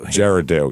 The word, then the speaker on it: Girardeau: Uh Girardeau, I believe is how you say it. Girardeau, yeah.